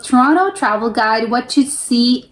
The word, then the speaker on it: Toronto: Toronto, pronounced Toronto, not Toronto.